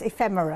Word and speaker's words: ephemera: I have to be careful how I say it because it comes out like an illness. Ephemera.